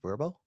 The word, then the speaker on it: Vrbo: you know this um vrbo is actually pronounced verbo oh really yeah i saw